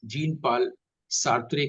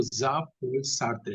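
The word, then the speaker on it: Jean-Paul Sartre: ही हाँ, जीन पाल सार्त्रे को भी लोग ठीक से नहीं हम्म। बोलते, वो ज़ां पॉल सार्त्रे है।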